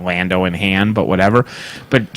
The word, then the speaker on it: Lando: that as false modesty hey it's pronounced Lando in handsome blond oh and Han Han Solo not handsome that's it that's a Lando calls oh yeah yeah because I'm Han exact yeah and he corrects him to Han but Lando Londo Londo Calrissian no way no Lando yeah that's that so